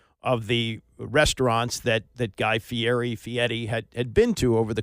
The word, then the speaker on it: Fieri: It's hosted by, he calls himself Guy Fieri, but it's F-I-E-R-I. It seems to be Fieri, and I think most people pronounce it Fieri. He pronounces it Fieri, but he's a guy